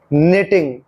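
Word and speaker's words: knitting: एन ओ डब्लू नो नेटिंग honest सम रंग नो नेटिंग honest समम अब देखिए कि नेटिंग में क और दूसरी टी का उच्चारण नहीं हुआ बो में नाइटिंग ही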